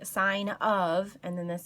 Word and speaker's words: sine: It looks like sin, it looks like cos, and it looks like tan, but I want you to say it like sine. That's actually the real word that it's abbreviated for.